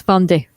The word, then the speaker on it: Vendée: Yep, it's Vendée. It's French.